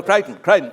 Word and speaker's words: Crichton: the ri chdo and is it greiten or crack craig great oh crayton all right he's dead